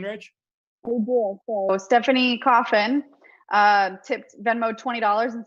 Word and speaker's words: Coffin: So Stephanie Coffin tipped Venmo $20 and said, Rachel, it's coffin, just like the box.